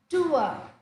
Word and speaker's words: tour: word in English Engish all right this is tu tu that is a correct pronunciation okay Tu tourist next one the symbol